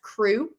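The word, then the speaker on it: QRU: By the way, Quilting Rockstar University, QR, we have decided is pronounced crew, which I just feel like sounds so fun.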